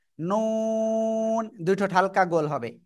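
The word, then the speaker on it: نون: পড়বো এই অক্ষরটা কিভাবে জিহ্বার আগা তার বরাবর উপরে তালুর সাথে লাগিয়ে নুন দুই ঠোঁট হালকা গোল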